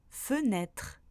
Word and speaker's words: fenêtre: Le E se prononce quand il est dans la première syllabe du mot. Par exemple, dans demain, fenêtre ou encore jeter.